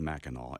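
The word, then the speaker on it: Mackinac: called it's it looks like MAAC but it's pronounced maol and I would highly recommend anybody going there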